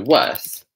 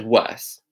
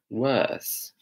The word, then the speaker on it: worse: So, so the word worse, it's pronounced kind of like with a U sound. Worse.